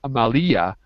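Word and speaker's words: Amália: Because otherwise it would be Amalia. It's not Amalia. It's Amalia. Accent put on the A. Yeah. Yeah, I should have told you that. My fault. Amalia. That's right. Amalia.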